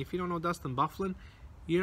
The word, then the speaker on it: Byfuglien: goals for Winnipeg were Stastny like I said Byfuglien with two Trueba Tanev wheeler town oven wheeler